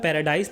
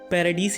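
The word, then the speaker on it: Paradis: हमारी कहानी की सेटिंग है पैराडीस आइलैंड पे और इसे एनिमे और मंगा में पैराडाइस नहीं पैराडीस ही प्रोनाउंस किया जाता है।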